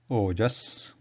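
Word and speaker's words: ओजस्: The Sanskrit word example here is ojas, and something like the English sound goat, the O sound after g, goat, O sound.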